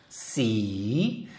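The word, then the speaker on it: สี: 그러면 이거 발음은 이렇게 되겠네요. 씨.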